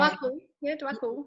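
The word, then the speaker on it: Djwal Khul: was, and also I think it was the Dwal Cool, I'm not pronouncing the name. Dwakul.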